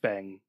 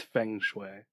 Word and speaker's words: feng shui: I guess it is Fang it's feng shui it's an e because I think Fung Shui is spelled with you fun yeah it's spelled with an E oh is it okay